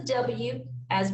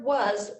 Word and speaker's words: was: when you read was make sure to remember to pronounce the a as a u and the letter s as a z and when writing was